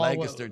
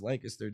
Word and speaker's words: Lancaster: They put the emphasis on the wrong syllables.